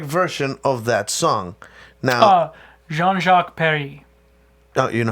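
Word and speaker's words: Jean-Jacques Perrey: Jean-Jacques Perry. Oh, you know how to pronounce it.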